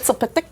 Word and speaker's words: Mxyzptlk: Mxyzptlk. Is that how you say Mr. it? Mxyzptlk. Yeah. Which is how I have always learned to pronounce it.